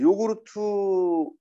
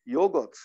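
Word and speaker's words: yogurt: 우리 요구르트 먹는 거 있지, 그쵸? 이것도 요거트. 요구르트. 요구르트라고 하는 건 일본식으로 우리가 발음한 거고요. 원래 요거트 요거트 이렇게 요거트 네, 요거트라고 해야지 원래 발음입니다.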